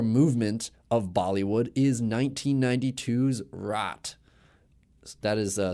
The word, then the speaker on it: Raat: suspense, thriller, horror movement of Bollywood is 1992's Raat. That is spelled R-A-A-T, if you're interested.